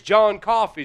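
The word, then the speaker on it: John Coffey: You got to You got to My name's John Coffee, sir. Like the drink, but not spelled the same.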